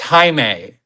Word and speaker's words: Jaime: I would like to welcome on to the show Jamie. Oh my goodness. Really? Interesting. Hi, can you hear me? Yeah, we can hear you. Yeah, it's pronounced Jaime. Jaime.